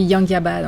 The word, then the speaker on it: Yangiobod: Direction le festival de moto à Yanjibod. Je sais pas si je le prononce bien, encore une fois, mais en tout cas c'est dans les montagnes et c'est très joli. Presque. On dit Yangiabad en fait.